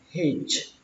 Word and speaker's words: hitch: Người đi nhờ xe thì các bạn đọc là hitch, hitch. Các bạn có âm chờ, hitch, hitchhiker, hitchhiker, hitchhiker, hitchhiker.